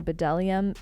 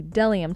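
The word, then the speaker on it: Bdellium: I was recently informed that the B in what I was calling Bedellium is silent, so the Delium Tools brush, this one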